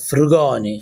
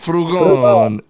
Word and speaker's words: Frugoni: Tok 47y old tick tocker I know it's pronounced fugon fugon all right Al fugon uh make sure that